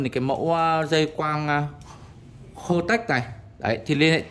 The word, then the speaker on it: Hotech: Đấy thì hôm nay em mới khai thác được những cái dây quang này của Hotech. Em đọc là Hotech, Kotech, không phải Kotech.